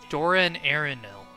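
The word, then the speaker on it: Dor-en-Ernil: Doran Arenil.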